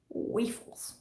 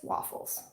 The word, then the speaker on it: waffles: completely convinced completely that the word waffles was pronounced wafels and i was like no it's waffles there's two fs there it's pronounced waffles no because i learned